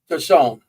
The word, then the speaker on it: Tassoon: So my friend Dennis Tassoon, I always say his name wrong. Tassoon.